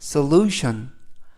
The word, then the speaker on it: solution: 이때 강세가 앞부분 sol에 있는 게 아니고 lu에 있습니다. 그래서 solution, solution 이라고 발음하시면 더 좋겠고요. 이때 tion 이 네 개의 철자가 션 발음이 납니다. tion 이 네 개의 철자가 션 그래서 solution 이라고 발음하시면 되겠고요.